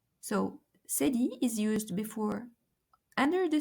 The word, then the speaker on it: cédille: And finally, we have the cédille.